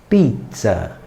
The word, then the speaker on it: pizza: aqui tá palavra pizza a letra dobrada significa que você vai estender mais a sílaba em italiano Então você falaria a pizza pizza Imagina você chegar ao